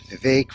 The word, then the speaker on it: Vivek: or Vivek he says he says Vivek rhymes with cake the vague we're almost